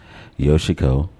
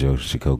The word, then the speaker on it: Yoshiko: stuff like that first off I have Miss yoshiko green did I pronounce that right ma'am yes you did okay Miss yoshiko green who is part of yosiko entertainment uh her website is uh www.